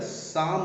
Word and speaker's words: Psalm: वक्त, इसको देखें, द साम ऑफ लाइफ। ये द साम ऑफ लाइफ, ये वर्ड ध्यान से देख लें। इसमें पी साइलेंट है, एल साइलेंट है। इसको पढ़ेंगे SAM की आवाज़ निकलेगी। द साम of life.